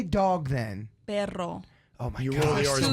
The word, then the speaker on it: perro: Perro. Oh my You gosh. roll the R's Two, you more. roll your- 2 I R's, just yeah. can't Yeah, roll. 2 words. Perro. Perro. And perro is dog butt.